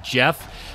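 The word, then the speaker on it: Geoff: screwing me up because it's spelled g-e-o-f-f but it's pronounced jeff i keep wanting to call him like goff or something he comes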